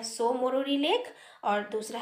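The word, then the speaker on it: Tso Moriri: पहला है सो मोरीरी लेक, यहाँ पे टी साइलेंट है, और दूसरा है सोकार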